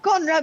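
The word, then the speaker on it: Konrad: uh I don't Conrad the Conrad was spelled with a K it sounds like a c so as for the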